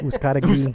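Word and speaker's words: Uzcátegui: How do you now. say it? right? I say Uzcategui.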